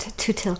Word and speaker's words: Twthill: It's got a weird Welsh spelling there, but it's not pronounced in a Welsh way. Twthill first enters the written